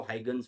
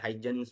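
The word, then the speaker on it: Huygens: ठीक है, कई जगह आप लोगों को हाइगन्स बोला जाता है, कई जगह हाइजन्स बोला जाता है। कई वैसे इसकी प्रोनाउंसिएशन कुछ ऐसे हॉगन्स कुछ ऐसे नाम से है, बट हाइगन्स बोल देना, कोई दिक्कत वाली बात नहीं है।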